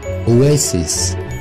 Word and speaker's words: oasis: analysis تشبه الكلمة التانية اللي هي واحد oasis, oasis, oasis, برضو American English, وجمعها oasis, oasis, oasis. number 14 هننطقها ازاي الكلمة دي؟